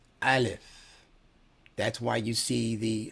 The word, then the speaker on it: aleph: The A in aleph represents a consonant that is pronounced from the back of the throat. Aleph.